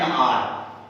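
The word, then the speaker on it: hour: they have been running for एन आवर, ध्यान दीजिएगा, इसको आर पढ़ते हैं, आर, हावर में एक्स साइलेंट है, तो दे हैव बीन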